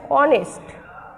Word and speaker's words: honest: বা হি is dash, he is dash অনেস্ট, HONEST, অনেস্ট ম্যান। এখানে এইচ এর উচ্চারণটা উজ্জ্ব আছে।